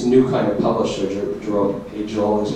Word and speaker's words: Agel: this infrasario this new kind of publisher, Jerome Ael is how I know now know pronounced his name.